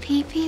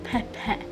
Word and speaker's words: Pepe: the owners then all right you are Lord pee pee is that correct no you pronounce it Lord Pepe okay um can you tell us anything about